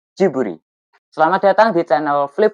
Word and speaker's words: Ghibli: BTW pelafalannya bukan Gibli ya tapi Jiburi.